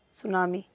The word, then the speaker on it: सुनामी: ऐसे ही लिखते हैं, सुनामी, क्योंकि इंग्लिश में भले से टी रहता है ऐसे, बट ये तो है साइलेंट, ये तो साइलेंट है।